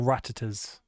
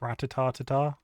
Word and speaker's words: Rattata: All Rattatas. Rattatas for days. Ratatata? Ratata? Ratatatas? How'd you pronounce it? Rattata.